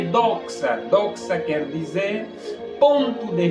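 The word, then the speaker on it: δόξα: E a palavra glória, ela no grego se escreve doxa, que quer dizer ponto de vista. A palavra glória no grego escreve-se doxa, D-O-X-A, doxa, que significa ponto de vista.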